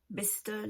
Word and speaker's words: Bicester: Et tout ça, ça s'écrit avec Cester à la fin. Hein, mais on dit Ster, Bicester, Leicester, Gloucestershire.